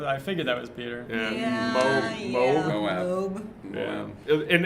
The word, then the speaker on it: Moab: Moab. Moab. Yeah. In It's absence.